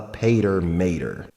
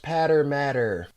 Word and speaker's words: Pater Mater: her deadliest weapon the pater mater actually it's pronounced patter matter wait really you sure